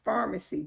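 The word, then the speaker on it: Farmacy: together by Pharmacy and it's pronounced Pharmacy just like medication Pharmacy it was actually started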